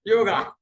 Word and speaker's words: Yoga: Of course, Patanjali Yoga Peeth, they write Y-O-G, but the pronunciation is Yog.